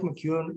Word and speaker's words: McKeon: So Mike McEwen was farsighted. Mike's last name is spelled McKeon.